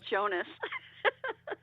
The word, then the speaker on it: Jonas: name wrong it's Jonas everyone says Jones but how you doing